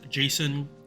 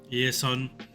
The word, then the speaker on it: Jason: Okay, so next up for servants that got buff is Jason Yesun, depending on pronunciation.